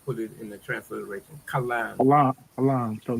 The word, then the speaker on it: kalam: Kalam. Kalam. K A L A M. If you put it in the transliteration. Kalam.